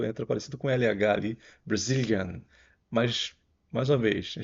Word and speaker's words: Brazilian: pessoa que do Brasil brazilian bom então o a do Brazil vai ser o mesmo aquele a sem vontade zilian aqui o Zil vai ser o forte também e esse finalzinho tem